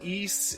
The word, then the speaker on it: Ys: And yeah, I'm gonna call her Alys because YS is pronounced East in the YS East game series, so you put all in front of East, and yeah.